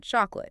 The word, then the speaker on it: chocolate: And one more thing, pay attention to that O sound in chocolate. It's like the O in hot, not chalk.